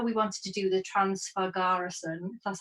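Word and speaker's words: Transfăgărășan: but we know we wanted to do the transfer garrison that's how you say it that road which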